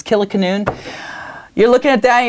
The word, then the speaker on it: Kilikanoon: Probably don't even know how to pronounce it. It's Killiecanoon.